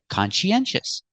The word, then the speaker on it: conscientious: con she our next syllable is n consen we need a sound in the middle to link these sounds we use the sound y y like yellow in yesterday consen consen and the last syllable is sh sh sh like Shu sh sh sh make a close sound sh let's put it together conen sh put the stress on the first syllable and third syllable we have four syllables consious consious conscientious conscientious